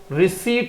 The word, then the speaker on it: receipt: आगे का वर्ड देखो, एक अच्छा वर्ड दे रहा हूं, RECEIPT, इसका प्रोनाउंसिएशन रिसीट होता है, रिसीट, रिसिप्ट नहीं।